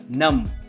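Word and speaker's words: numb: इसमें B silent होता है, नम।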